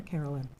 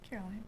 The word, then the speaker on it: Caroline: Is it Caroline or Carolyn? Caroline. Caroline, okay. Thought I could be saying it wrong.